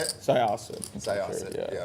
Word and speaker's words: Syosset: Syosset.